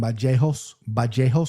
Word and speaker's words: Vallejos: This is how he pronounces it, Kevin Vallejos with the B.